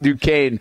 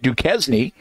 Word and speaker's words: Duquesne: The silent S in both of those names.